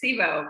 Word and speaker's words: CIBO: You can tell us how to pronounce it. It is CIBO, but great to be here. And I think if we were Italian, I think it would have a much bigger accent with it in the hand, right?